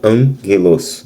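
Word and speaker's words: ἄγγελος: emângelos, mesmo sendo dois gamas, eh, elas, o primeiro gama soa como um ni, então ele fica an, ok? Angeloso, mesma coisa com antroposo, OK?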